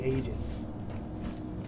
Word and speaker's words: Aegis: how you pronounce it I say ages because it starts with an A and the e silent clothes that open that